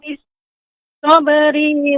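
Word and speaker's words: بالصبر: Tsumma kana minal ladzina amanu wa tawassaw bis sabri wa tawassaw bil marhamah. Ya. Bis-sabri pendek ya Ibu, pembacanya.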